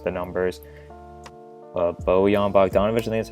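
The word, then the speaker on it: Bogdanović: opinion that's just the numbers but Bowie on Bogdanovich Utley that's how you say his name be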